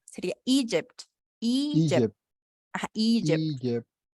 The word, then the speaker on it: Egypt: aquí, Egypt, Egypt, aquí el acento va en la primera. Sería Egypt.